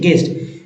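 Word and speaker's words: guest: को हटा के ई एसटी जी ई एसटी गेस्ट गज गज पढ़ते हैं ना कि गज पढ़े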